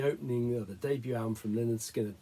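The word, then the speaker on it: Lynyrd Skynyrd: number four the opening the debut album from Leonard skinnard pronounced Leonard skinnard so a band named after their their gym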